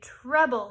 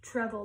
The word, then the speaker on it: treble: Remember, it sounds like trouble, but we say treble. It's pronounced treble.